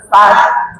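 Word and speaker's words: فتح: Iza ja an-nasrullahi wal fath. Fath. Ha nya di dalam tenggorokan. Karena ada ta mati nanti ha nya juga mati disukunkan. Jadi ada dua tanda yang mati dibacanya berbarengan.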